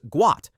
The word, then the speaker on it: Gout: The correct pronunciation is Guat, not how most people initially read it.